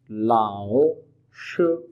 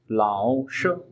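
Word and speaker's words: 老师: The word for teacher is लाओ लाओ श लाओ श, third tone plus first tone लाओ श।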